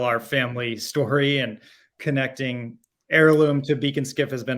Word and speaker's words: Ayrloom: it needed to stand on its own but heirloom we spell it a-y-r-l-o-o-m but heirloom really Harkens back to